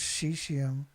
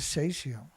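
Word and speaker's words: caesium: Only the British pronounce cesium as cesium with an A.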